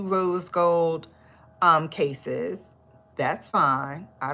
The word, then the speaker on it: Rose: I'm gonna get the Rose in the Woods. I wanna say rose so bad, but there's no accent on the E. So it's Rose in the Woods.